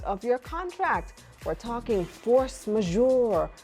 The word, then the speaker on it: force majeure: so tell me and I'm not even sure if I'm saying this right what is force majeure you said it right it's a French French phrase which literally means superior